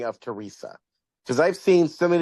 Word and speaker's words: Teresa: So, yes, second story, which is Millicent and Teresa. That's how you pronounce it. I was so lost at first. I'm very bad with names, So when I saw that, I thought it was Theresy.